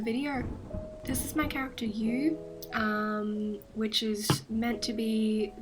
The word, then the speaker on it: Yu: a little bit easier, it ended up sounding like a U, which can get confusing, but it was my choice.